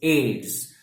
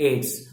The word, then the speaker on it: AIDS: as a very you know popular acronym is AIDS okay we don't pronounce it we don't pronounce the letter distinctly we don't say a IDs we say it ace so that is the difference between a coding